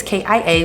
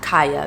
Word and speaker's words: Kia: job heroin is notorious ki a welcome back to my channel and if you're new here welcome my name is pronounced kia not kaya because some of you girls do try it but it's okay and